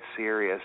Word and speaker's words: Dead Serios: them on Facebook, they're just type in Dead Serious and you'll be able to find them. Well, Serious without the U. Just type yeah, in the word Serious. S-E-R-I-O-S. S-E-R-I-O-S. Right, it's Serious.